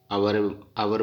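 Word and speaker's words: hour: जैसे ये आवर बोलते हैं, इसका एच का उच्चारण नहीं हो रहा, इसके अंडरलाइन कर दिया।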